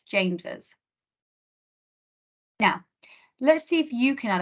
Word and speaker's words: James's: The apostrophe goes after the S, but it's still pronounced James's.